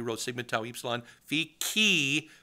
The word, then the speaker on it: chi: the abc cba oh the greek letter key c-h-i is how you spell that yeah so if